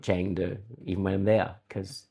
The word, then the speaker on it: Chengdu: I was calling it um, as you can tell later in the video, I was calling it um, Chongdu, not Changu, even when I'm there cuz I'm an idiot.